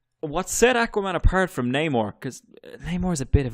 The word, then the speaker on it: Namor: I always used to call him Namor until I heard it spoken. But apparently Namor is the correct way to say it.